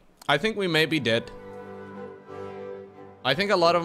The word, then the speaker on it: de: in Dutch as well it is not pronounced die though yeah a lot of kids will be like die die no that's not what they do be D de de de de I